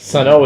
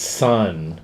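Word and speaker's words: Sunn O))): And actually, That's Sun O is pronounced Sun. They say, but the magazines keep calling them Sun O, and everybody sort of refers to them as Sun O.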